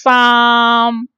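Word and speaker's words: 三: So 3 in Cantonese will pronounce sam. Sam is belong to tone 1, 5, 5, high flat.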